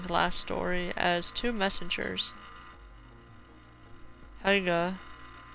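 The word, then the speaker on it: Haigha: Helga, pronounced to rhyme with mare and sounds like hare, and Hatia.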